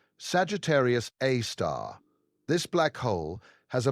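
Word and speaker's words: Sagittarius A*: A super massive black hole called Sagittarius A. Pronounced Sagittarius A star.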